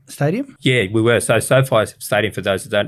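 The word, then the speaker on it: SoFi: get our logo on the sofa is it so far is that the way you pronounce it stadium yeah we were so so far stadium for those who don't know again uh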